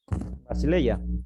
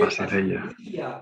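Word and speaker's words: βασιλεία: Basileia. Basileia. Bien. No Basileia, no, Basileia. Y es diptongo, por eso está en el segundo lugar, pero pronuncia como si estuviera en el primero.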